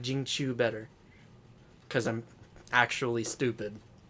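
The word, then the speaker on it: Jingqiu: So, like, last night I got Zhang Q. You got Jing Qiu is how it's actually pronounced. I'm a moron. Yeah, I am too. I like Jing Qiu better.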